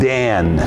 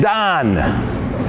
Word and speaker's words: Dan: Well, when you're talking about the tribe of Dan, it's pronounced Don.